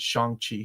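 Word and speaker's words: Shang-Chi: Shan Chi.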